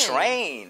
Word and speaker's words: train: 오케이, train 할 때 대신에 발음 할 때 트레인보다는 train. There you go. 자 지금 희영 씨가 트레인이 아니라 추 발음을 했던 거예요.